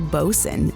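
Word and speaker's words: boatswain: Well, that's like 5,000% the wrong pronunciation. It's actually Bosen.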